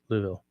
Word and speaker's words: Louisville: what was I saying Louisville it's just louville destiny what the hell